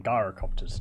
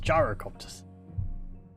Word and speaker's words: gyrocopter: units of 32 gyrocopters enemy that keep saying Gaara copters gyrocopters gyrocopters gyrocopters gyro copters idea it's the problem